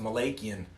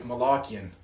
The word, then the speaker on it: Malakian: darren malachian actually i always thought it was pronounced malachian but apparently it's malakian don't you dare mispronounce a man's last name